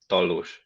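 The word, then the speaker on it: Tallós: I will tell you the Hungarian name. It's spelled Tallos. Tallos.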